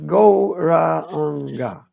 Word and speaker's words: Gauranga: Duchowej mocy i ta moc pochodzi od transcendentalnego dźwięku Gauranga, which we will divide into 4 syllables, Gauranga.